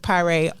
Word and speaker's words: Pye: last name because I I know people usually pronounce it one way but I think you told me it's something else it's Chef Pye up at Linewood yep